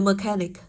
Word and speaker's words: mechanic: Ý D thì từ có đuôi IC trọng âm rơi vào trước âm đó. Vậy cô có với từ mechanic, rơi vào trước âm đó, âm tiết thứ hai của từ.